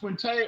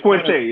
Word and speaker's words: Quinte: Is your name pronounced Quinte or Quint? It's Quinte. It's Quinte.